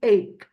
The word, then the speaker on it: ache: Here we know, here in this part, we talk about the pronunciation CH, which is pronounced as K. We say ache.